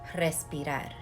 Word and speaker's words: respirar: too to remember breath breath in spanish or to breathe is respirar the root of respiratory say it with me roll your r's like respiration right so